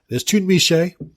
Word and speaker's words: Tunmise: We got it close, but it is Tunmise, and it is Adelier.